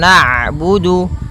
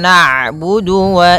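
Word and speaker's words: نَعْبُدُ: harakat iyaka iaka naudu kemudian ada huruf Ain yang berharakat sukun ketika huruf Ain berharakat sukun Ain itu punya punya sifat namanya bainiah yaitu bacaan di antara syiddah dan Rah kalau syiddah suaranya tertahan kalau rak suaranya mengalir maka di antara keduanya I naudu iaka kembali lagi Wa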